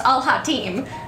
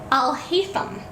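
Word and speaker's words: Alhaitham: Yeah, it looks like it should be pronounced Al Hatim, but I'll hate them.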